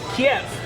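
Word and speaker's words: Kyiv: So chicken Kiev is a dish that's named after the Russian pronunciation of the Ukrainian city, Kiev. And the woke version of it is chicken Kiev, because that's how you pronounce it in Ukrainian.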